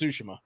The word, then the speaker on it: Tsushima: It's pronounced Tsushima.